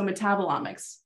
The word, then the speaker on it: metabolomics: I say it correctly it's like metabolism so metabolomics metabolomics microbiome and environments with Precision